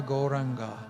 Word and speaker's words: Gauranga: a breath meditation mantra goranga meaning the golden lord of love has four syllables ko ra we are